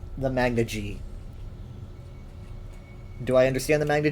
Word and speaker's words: Magna Ge: Some people say Magna G, some people say Magna Gay.